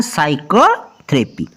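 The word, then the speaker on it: psychotherapy: और नेक्स्ट है साइकोथेरेपी। साइकोथेरेपी में भी P पहले S से इसलिए P की आवाज नहीं आएगी, क्लियर।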